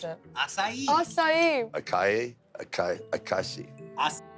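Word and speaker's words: açaí: In the early 2000s, an American food company, Monavi, called acai a superfruit that treats cancer, heart disease, and strengthens the brain and erections.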